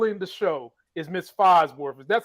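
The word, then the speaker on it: Falsworth: that is still in the show is Miss phosworth that's how you pronounce her name uh Miss Sonia she's the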